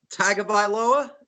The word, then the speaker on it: Tagovailoa: In my rankings, if you can pronounce his last name correctly. Tagovailoa.